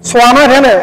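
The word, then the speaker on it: صمد: এটা উচ্চারণ হয় সামাদ, সামাদ, সোয়ামাদ। এখানে সানা সোয়া, সিন না সোয়া, সোয়া, সোয়ামাদ, সোয়া আলিফ, সোয়ামাদ, সোয়া আলিফ, সোয়ামাদ, আল্লাহুস সামাদ।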